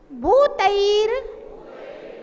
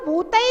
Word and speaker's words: भूतैर: भूतैर भूतैर, अच्छा देखिए बहुत सारे लोग इसके रा का उच्चारण नहीं कर पाते तो फिर वो भूतई गुण ही पढ़ते हैं, उनको पता नहीं है कि रा कहाँ पढ़ना है।